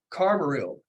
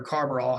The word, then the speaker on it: carbaryl: see that I have carburill on each of these sprays or Carver all however you want to pronounce it carburol is a insecticide